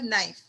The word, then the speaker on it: knife: Second word is knife. In knife, K is silent. But the second alphabet is N. N is consonant. So we put a before knife, a knife.